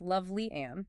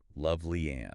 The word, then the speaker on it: Lovely Ann: And it's pronounced Lovely Ann, it's just so everyone knows. Loveling Clark, got it. Lovely Ann.